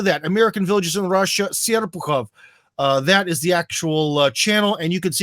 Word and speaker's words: Serpukhov: Unfortunately, the way it's written in English is not the way it's pronounced. But anyways, go to that. American Villages in Russia, Serpukhov.